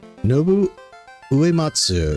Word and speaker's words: Nobuo Uematsu: Kon-Tiki Kon-Tiki tours Kon-Tiki Nobuo Uematsu.